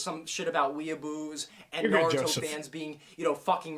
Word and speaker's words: Naruto: It's not Naruto, it's Naruto, right?